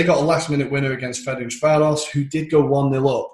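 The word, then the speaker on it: Ferencváros: And Dinamo Kiev and Ferencvaros, I learned it's a correct pronunciation.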